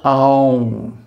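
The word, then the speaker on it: ॐ: is āūṁkāra, the letter āūṁ. So, first of all, the correct pronunciation, āūṁ, and then the correct meter, mātrā. Āūṁ, and then half a beat of silence. So 3.5 mātrās.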